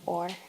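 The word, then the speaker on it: אור: collective so or a it's actually a Hebrew word or is how you pronounce it meaning light to be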